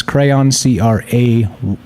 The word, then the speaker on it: Craiyon: said, now known as Crayon, CRAIYON, not spelled like the regular crayon. There's an I in there for some bizarre reason, probably because the word crayon is probably copyrighted or whatever.